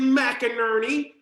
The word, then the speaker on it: McInerney: creative team of mcinerney her last name rhymes with burton ernie and ken la moog